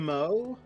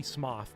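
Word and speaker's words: Smough: Uh, I say smo, but it's I'm pretty sure it's technically Smoth because you meet a guy later named Gooff and his name is spelled the same.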